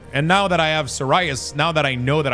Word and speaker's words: psoriasis: Psoriasis. Yeah. I mean that's how it's pronounced in English even though it's not pron it's not uh spelled like that whatsoever. But that's that's how you pronounce psoriasis.